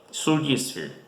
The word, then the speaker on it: Surgisphere: Esa data, Surgisphere, pueden buscarlo. Se escribe igual que surge, pero con i al final, y Sphere en inglés, S-P-H-E-R-I, Surgisphere.